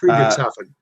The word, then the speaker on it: Friedrichshafen: are flying Zeppelins from Friedrichshafen, I can never pronounce the name. Friedrichshafen.